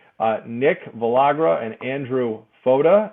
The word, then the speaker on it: Fotta: nick villagra and andrew foda it rhymes with yoda that's how i remember